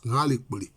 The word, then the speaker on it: Ngalekpole: Voilà, c'est comme ça que ça se prononce, Ngalekpole. Bon, mais quand vous voyez sur la plaque là, c'est écrit dessus Ngalepole.